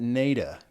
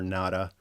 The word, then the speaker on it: Nada: I've always pronounced that NECA because I'm actually a bigger fan of names with double meaning instead of one meaning.